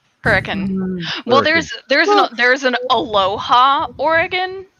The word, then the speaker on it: Hurricane: what it says on the sign, and you pronounce it Hurricane, we're like, yeah, you're not a local. It's Hurricane. Hurricane.